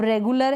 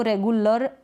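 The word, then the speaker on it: regular: अब रेगुलर है, इसको रेगुलर अ पढ़ रहे हैं, रेगुलार या ऐसे नहीं पढ़ रहे हैं हम, रेगुलर पढ़ रहे हैं, AR आया है।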